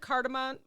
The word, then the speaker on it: cardamom: Try adding a Cardamon's pinch of ground cardamom to your coffee.